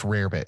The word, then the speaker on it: rarebit: It's rarebit is how you pronounce it. It's not. Rarebit. It looks like rabbit.